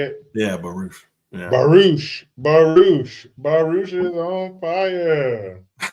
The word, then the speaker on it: Baruch: Yeah, Baruch.